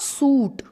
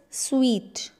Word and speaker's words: suite: and now this one it's not suit no not suit it's sweet yes it's sweet this time